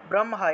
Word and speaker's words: ব্রহ্মা: কবচ উচ্চারণ হয়েছে ব্রহ্মা ব্রহ্মা এখানে দেখুন খিয় আছে এই যে হ যোগ ম যুক্তবর্ণটা আছে এই যুক্তবর্ণ থাকলে হ যোগ ম উচ্চারিত হয় অর্থাৎ ব্রহ্মা উচ্চারণ হবে আমরা তো ব্রহ্মা বলে